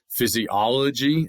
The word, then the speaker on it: physiology: Physiology is five, accent on the second. Okay? Or sorry, the third physiology third out of five.